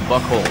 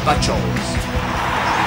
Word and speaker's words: Buchholz: And they'll go to work against the no-hit kid from back in 2008, the slender right-hander Clay Buchholz. Yep, he said it wrong. Clay Buchholz.